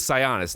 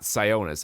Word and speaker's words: Sionis: And it is Sionis, not Sionis. I don't know why half the people in the movie pronounce the name wrong.